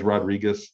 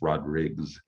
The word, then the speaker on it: Rodrigues: a lot of it's everybody says rodriguez and i don't mind that at all i'll take it but actual the portuguese pronunciation with the s on the end it's called it's rod riggs that's what i've been